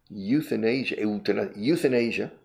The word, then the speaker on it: euthanasia: Porque esa pronunciación es igual. Euthanasia. Youth es juventud. In Asia. Asia. La juventud en Asia. Hay un problema con la juventud en Asia. I said, well, what's the problem with you, the youth in Asia?